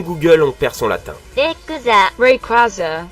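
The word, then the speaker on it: Rayquaza: Requaz Reaz. En vrai, c'est un mix entre rayon et quazar mais aussi une divinité steèche. Du coup, ça se prononce Requaza.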